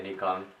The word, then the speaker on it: Nikon: I say Nikon because that's how it's properly pronounced.